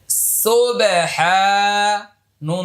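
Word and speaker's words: سبحان: সুন্নাত আমরা যা বলি সিন বা পেশ সবে সবে হা আলিফ জবর হা সুবেহা নুন জবর না সুহানা সুবহানা সুবহানা জবরের বাম পাশে খালি আলিফ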